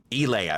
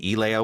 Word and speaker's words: Elaya: Have a Leia pronounced like Elia, excuse me. Elia, pronounced like Princess Leia but with an E on it.